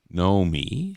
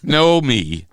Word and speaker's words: Nomi: say it slow slowly no me how can you say it slowly there's two syllables no me or no me m